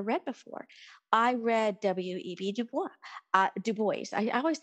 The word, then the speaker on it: Du Bois: I had never read before I read W.E.B DuBois uh Du Bois I always say Dubois but